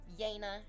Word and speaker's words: Yana: So, the actual story begins with uh like a 19-year-old woman named Yana. It rhymes with Jana, but it's Yana.